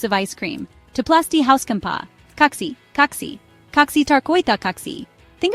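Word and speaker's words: kaksi: kite then say oxy it rhymes with taxi notice how the a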